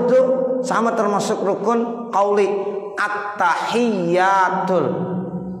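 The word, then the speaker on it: التحيات: At-tahiyyatul. Itu tasdid-tasdidnya harus benar. Kalau seandainya kita baca at-tahiyyatul, at-tahiyyatul, ya itu at-tahiyyatul salah. At-tahiyyatul mubarakatus sholawatut. Itu tuh mesti tasdidnya harus benar.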